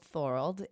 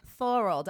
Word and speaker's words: Thorold: So my city is called Thorold. It's Called just what? Thorold. I know most people have difficulties pronouncing it, but It sounds like a typo.